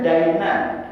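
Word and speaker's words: دَيْنًا: Yaqdilahu dainan, dibacanya dainan. Bedain Pak, ini makanya kalau kita kuning itu salah harokat, salah arti. Dainan, dalnya pakai fathah, itu artinya hutang. Tapi kalau dalnya di kasroh itu artinya agama tuh, dinun.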